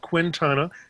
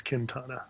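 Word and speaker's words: Quintana: It's not Q'ntana, it's Q'ntana. Yes. Right. And you see, we had a guest on, Lise Q'ntana. Well, I said Q'ntana because she had a U and an I in the name, and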